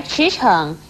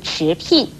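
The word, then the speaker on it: 驰骋: 美而言，所以娉婷不可以念成聘婷，而驰骋也不可以念成驰聘。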